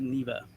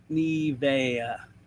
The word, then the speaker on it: Nivea: Notably Nova is saying hello to Neva. Close enough. All right, cool. Nivea. Nivea. Okay, got it. Thank you. Nivea. Oh, that's cool. Break it down. Break it down. Let's take it to 3 syllables, people.